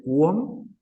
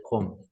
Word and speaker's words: Qom: Nuevamente, no se dice cuom, se dice com. Y con Q. Ni tampoco es con C, es con Q.